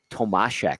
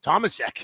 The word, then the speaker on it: Tomasek: But they pronounced it Tomashek. Tomashek. And I was like, oh, God, here we go. Yeah, we got to call him Tomashek. No, this is North America. This is Tomasek.